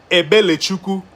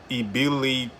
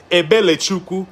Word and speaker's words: Ebelechukwu: You have to say You have to sing the name, not say it, okay? So, this name is pronounced Ebelechukwu.